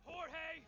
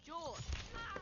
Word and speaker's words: Jorge: Last one up gets it, Jorge! My name's pronounced George.